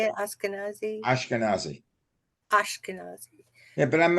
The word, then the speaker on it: Ashkenazi: Ashkenazi?